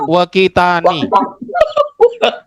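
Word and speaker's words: وقتان: Waktun kalau dijadikan tasniyah dibaca Tasniyah waktani. waktani. Tadi ada yang bacanya apa? Silakan, siapa tadi? Saya Sobat. saya. Oh Pak Furkon, bacanya apa? Wakitani.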